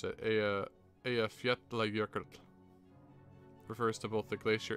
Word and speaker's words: Eyjafjallajökull: It says, Okay, so they pronounce it Eyjafjallajökull.